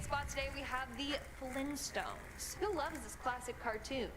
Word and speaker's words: Flintstones: as so no apparently it's the Flint stones with the hard t uh I refuse to